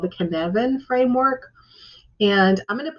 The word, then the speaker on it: Cynefin: he came up with a framework called the kinevin framework and i'm going to put a slide up on how you spell that um it's a welsh word and it's